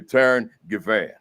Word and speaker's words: Taryn Givan: Taryn Givan.